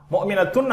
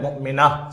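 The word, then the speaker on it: مؤمنة: எனவே இந்த வார்த்தைகளை உச்சரிக்கின்ற பொழுது முஸ்லிமத்துன் என்று சொல்ல மாட்டோம், முஸ்லிமா. முஃமினத்துன் அல்ல, முஃமினா, சாலிஹா என்பதை போல.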